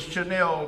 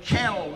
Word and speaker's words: Chanel: the race before us, the announcer got the name wrong for the winner. The winner was Chanel number 5, and it kept calling it Channel number 5.